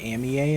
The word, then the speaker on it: Amie: I used to think it was Amie, but I guess it's Pokemon Amie. Because it's supposed to be like the phrase Monami.